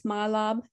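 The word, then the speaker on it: mahlab: um have you ever heard of the spice mylab m-a-h-l-a-b there's there's lots of other pronunciations of it but the pit that's inside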